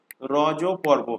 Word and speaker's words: রজ পর্ব: তো ইংলিশে লিখলে RAJAPARVA, তো ইংলিশে রাজা হয়ে যাচ্ছে উচ্চারণ, কিন্তু অ্যাকচুয়াল উচ্চারণ হলো রজ পর্ব।